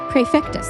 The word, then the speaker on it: Prefectus: Prefectus. Prefectus Zazarg reporting. Zazarg, what is the meaning of this intrusion? My apologies. As the head of the 4th Division, it was I who was called upon to Prefectus or Prefectus.